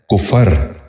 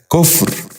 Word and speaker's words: کفر: غور سے سنیے، کفایت۔ 11واں لفظ ہے کفر۔ یہ غلط تلفظ ہے، درست تلفظ ہے کفر۔ دوبارہ سنیے، کفر۔ بچوں آپ بھی غور